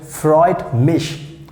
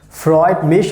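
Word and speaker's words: freut mich: you so we can say in german language freud mish freud mish we have a different ways to to say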